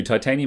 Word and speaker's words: titanium: video is wrong too titanium is latin and should be pronounced thai like tim should be hdd